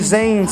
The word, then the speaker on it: Zane: Everybody wanna say but it's Zane.